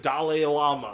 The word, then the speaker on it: Dalai Lama: Dalai Lama.